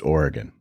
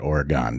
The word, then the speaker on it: Oregon: and he was very much uh uh a guy who was it's it's Oregon. It's not Oregon.